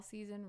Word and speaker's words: SZN: Doll Season Reloaded. But season is spelled SZN.